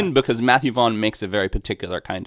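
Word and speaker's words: Matthew Vaughn: of movie very particular did I get that name wrong jefff no no that's right Matthew vaugh yeah nice good memory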